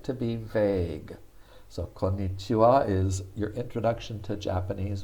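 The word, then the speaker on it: こんにちは: ha becomes the wa the ha becomes wah only when it's a particle and the particle means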